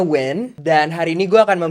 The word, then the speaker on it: VVYND: lagi ada di Hai gue Wen spellingnya VV y n d bacanya when dan hari ini gua